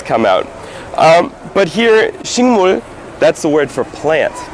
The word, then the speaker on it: 식: all kinds of plants it's uh spelled as shik but it's pronounced as shing shing and then across this